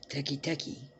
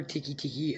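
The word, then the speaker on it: Teke Teke: Now, the other version of Teki Teki, or Tiki Tiki, other people pronounce it Teki Tiki, some call it Teki Teki.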